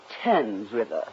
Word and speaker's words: Thames: Marx, it's pronounced Thames River.